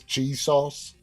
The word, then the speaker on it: Chisos: the middle of nowhere they just pronounce this cheese sauce well his name is piso c-h-i-s-o-s uh and that that